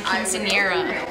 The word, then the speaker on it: quinceañera: my quinceañera.